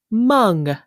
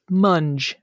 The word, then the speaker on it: mung: Your word today is mung, M-U-N-G, also sometimes pronounced munge, M-U-N-G. Oh, munge. Yeah, I would say more historically pronounced mung.